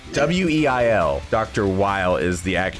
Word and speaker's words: Weil: I think it's pronounced Weil, but Weil.